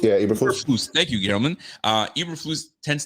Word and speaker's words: Eberflus: I think the coach, I can't even pronounce his name. Fuberblues. I'm messing his name. Eberflus. Yeah, Eberflus.